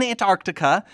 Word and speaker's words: Antarctica: blew your mind that i pronounced the sea in antarctica which most people don't do but here's the thing